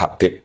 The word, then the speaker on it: Habib: Yang benar adalah membacanya sebagai Habib.